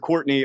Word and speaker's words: Courtenay: It is pronounced Courtenay, but it's spelled like Courtenay.